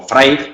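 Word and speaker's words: Vrij: Aldelbrich o Freig, que es como realmente se pronuncia su apellido, y Sharon Leal están trabajando en estas diferencias, ¿no?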